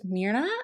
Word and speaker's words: Mirna: But one of my angel subscribers, Mirna, I think is how you say it, it's